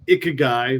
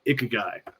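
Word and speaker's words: ikigai: diagram that Mark is talking about it's the ik guy which is a Japanese concept and that's spelled i k i g AI everybody you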